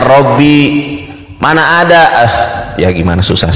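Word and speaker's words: رَبِّي: Di surat itu tulisan Latinnya Rabbi, dibacanya Robbi. Astagfirullah. Itu tulisan Latinnya Rabbi, kalau bahasa Arabnya itu dibacanya Robbi.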